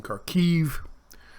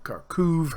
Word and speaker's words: Kharkiv: uh the areas in kharkiv or kharkov however you want to pronounce it uh rockets hitting uh